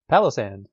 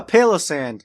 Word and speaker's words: Palossand: So there are, there's a basis for both of the pronunciations here. You're Palossand, you have a palace of sand, right? And I have Palosand, which is a pail of sand, like a Palo sand.